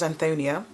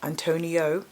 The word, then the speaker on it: Antonia: My name's Antonia, not Antonia, not Antonio, not Anthony, not Anthony.